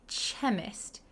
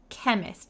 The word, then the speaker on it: chemist: So, we don't say chemist, we say chemist like a K.